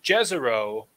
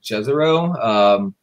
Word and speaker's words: Jezero: I said Jezero, but would Jezero be more correct? Most of the community calls it Jezero.